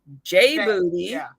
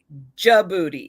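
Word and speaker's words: J'Booty: we put together djibouti but jody kept saying jbooney j booty and it's like jody no it is jay apostrophe booty which is pronounced ja booty it's like look look at your booty over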